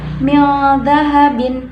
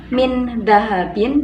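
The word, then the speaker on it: مِنْ ذَهَبٍ: Maka cara membacanya mil dahabin, bukan min dahabin, tetapi mil dahabin.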